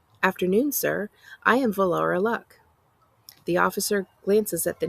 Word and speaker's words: Luck: passenger log luck yes in Cantonese our surname sounds more like Luke but the British like to pronounce it luck ba had decided to